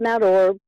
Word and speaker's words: Mount Orab: Yeah, you did a pretty good job, Mount Orb.